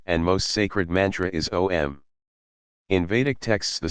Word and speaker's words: om: Lord is praised enchanting om comprises three syllables Au m in in viic Tradition